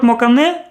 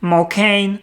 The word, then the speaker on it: Mokane: Mokan, Makan, Makane, so I pronounce it differently. Already at the installation stage I learned that the name of the city is pronounced Mokain and there was a flood here again in 2019.